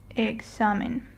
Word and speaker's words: examen: And we have to stress the next to last syllable, which in this case is the X and A. So the proper way to read it would be examen.